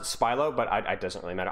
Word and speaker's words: Spilo: here last thing is it's spylo or spielo or spylo um it doesn't really matter I I've always pronounced it spylo but it doesn't really